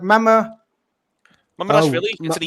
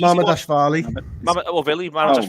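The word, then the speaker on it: Mamardashvili: Like Mama Dashvili. Mama Dashvili. Right, well, we've all agreed then. Neil says it's easy, but there was 3 different accents and different Dashvili, come on. Mama Dashvili.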